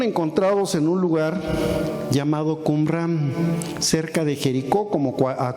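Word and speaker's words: Qumrán: Muerto un lugar llamado Kumram. Actualmente también se pronuncia como cumrum en algunas partes.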